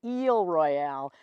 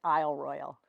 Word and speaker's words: Isle Royale: I love Royale and if we were honoring the way the French would say it would be eel Royale but it's definitely been